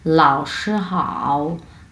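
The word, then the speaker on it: 老师好: সো এখানে আমরা পড়ব হচ্ছে, এটাও ঢেউ খেলানো অবস্থায় আমাদের উচ্চারণ করতে হবে হাও, হাও, হাও, এইভাবে। হ্যাঁ, সো দুইটা একসাথে আমরা উচ্চারণ করব লাও শি হাও, লাও শি হাও।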